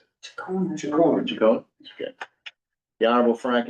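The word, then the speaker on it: Ciccone: Do you know how he pronounces it? Chicone.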